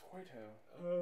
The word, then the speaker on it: Cueto: I think it's pronounced Cueto.